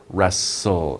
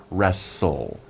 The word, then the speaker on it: wrestle: we say rest soul wrestle it's like you don't even pronounce the t wrestle the t is silent